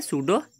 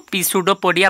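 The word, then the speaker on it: pseudopodia: Projection, इनको बोलते हैं सूडोपोडिया। कई सारे बच्चे इसको पी सूडोपोडिया भी प्रोनाउंस करते हैं, जो कि इनकरेक्ट होता है, इसमें पी बेसिकली साइलेंट होता है, तो इसको हम पढ़ते हैं सूडोपोडिया।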